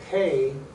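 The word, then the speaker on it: ה: You can't say He without breathing out.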